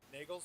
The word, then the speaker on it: Nagels: I think I'm pronouncing his name right. Right, DJ? Nagels? Yep, Nagels.